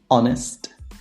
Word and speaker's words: honest: There are only 4 words in which the H is silent. And obviously the words that are either compound or that come from these words. And they are our, honor, honest, air.